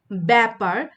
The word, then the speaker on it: ব্যাপার: এরপর দেখো যে জফলাযুক্ত ব্যঞ্জনের সঙ্গে আকার বা আধুনির উচ্চারণ প্রায় ক্ষেত্রে কি হয়? এ হয়। যেমন দেখো যে এখানে যেহেতু জফলা যুক্ত আছে এবং আকারও আছে। তো উচ্চারণ কিন্তু খ্যাতি, ব্যাপার, ত্যাগ এবং ব্যাকরণ।